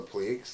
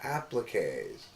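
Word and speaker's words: appliqué: at us and said that's not called the pleaks those are called appliques well it's spelled oblique oh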